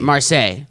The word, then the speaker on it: Marseille: city right yeah that's marseille marseille well you pronounce it like versailles versailles it's like a